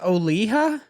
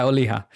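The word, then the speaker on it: Olija: the banger big josh boy okay so it's pronounced oliha yeah oliha so it's oh i've been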